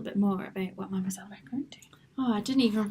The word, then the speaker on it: macaron: We have got the fabulous Rachel from Mademoiselle Macaron. Absolutely, Did you I said pronounce it that right. I was like, is she good? I was really concentrating. I was concentrating so hard because it's macaron, not macaroon.